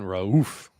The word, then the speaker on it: Raouf: More emphasis on Raouf. Is that better? Raouf?